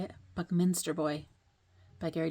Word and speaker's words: Buckminster: book Meister boy is how you say it Buckminster boy by Gary D Smith honor Newbury honor